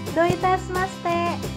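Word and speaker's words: どういたしまして: Saat kamu mengucapkan doitesmaste, kamu mengungkapkan vokal O dalam kata do satu ketuk lebih panjang.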